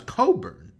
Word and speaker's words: Cockburn: his name is brown it's coburn jeff it's spelt clockburn okay walk around saying my name is cockburn by the way one